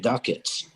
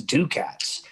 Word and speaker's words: Ducats: reason way back then i decided i'm gonna spell it like the dictionary spelling and not do it phonetically which i always felt you know played against me because everybody says do cats but that's okay i